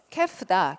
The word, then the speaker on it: calf: 그게 있어야 되고 먼저 그게 있고 나서 그 다음에 주인공은 calf다. calf라는 애가 L 발음을 하지 않습니다.